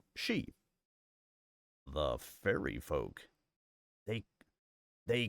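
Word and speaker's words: Sidhe: I, the she, Sarah Ryan said, pronouncing it she.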